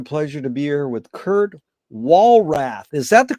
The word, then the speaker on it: Kurt Walrath: It's an honor and a pleasure to be here with Kurt Walrath. Is that the correct way to pronounce it, Kurt?